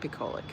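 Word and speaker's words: bucolic: Bupolic is like a picture. You'd think it's like that. It's not like that. It's not like that. It's more like bubonic. No, it's not. Bolic. Bolic rhymes with alcoholic.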